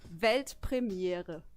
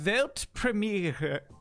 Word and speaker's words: Weltpremiere: It's actually Weltpremiere. Pretty similar, I right? think I could do that. сказал? Yeah, do it. Weltpremiere.